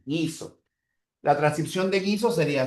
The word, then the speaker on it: guiso: La primera es gi, la otra es gui, guiso.